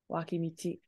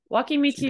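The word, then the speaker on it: 脇道: So in this context, a lot of times this does get pronounced as do when it's with somebody. It's actually pronounced as michi here, being very confusing for us. Wakimichi.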